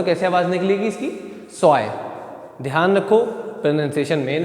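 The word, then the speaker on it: zwei: ध्यान रखना उस चीज की ए और इ आएगा उसकी आवाज कैसी निकलेगी अपने इंग्लिश के आई जैसी निकलेगी कैसी निकलेगी इंग्लिश के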